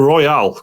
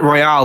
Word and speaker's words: Persona 5 Royal: Persona 5 Royal or Royale? Which is it? Royale. I've been pronouncing it Royale, but I do like cheeseburgers, so I don't know. I think it is Royal. Yeah, Persona 5 Royal, yeah.